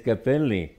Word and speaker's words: Capelli: may Capello I said they said no in Italian it's Capelli hairs I said well in